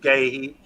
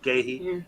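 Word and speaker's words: Guéhi: started with Ward up right back Anderson and gay he pronounced that correctly gay he and Mitch short left back um decorating Hughes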